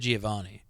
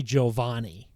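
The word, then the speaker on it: Giovanni: what it actually is I always said Giovani it's actually Giovani really and yours was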